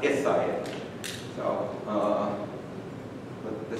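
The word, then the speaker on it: Al-Sayyid: It's actually pronounced Isayed.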